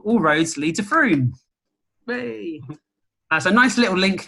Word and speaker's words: Frome: And then the way I remember it in my brain is that it's Frome, Frome, Frome, shake the room.